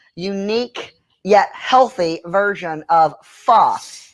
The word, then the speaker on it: pho: yet healthy version of pho it's uh it's spelled pho but it's pronounced like the f-u-h and i am doing